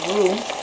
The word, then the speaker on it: roux: The water has significantly reduced, so we're gonna start on our roux. Roux is spelled R-O-U-X.